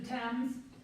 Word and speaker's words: Thames: Number 2, the Thames River. I will accept that. It's the Thames, but most people do say the Thames or the, do you think I shouldn't accept it?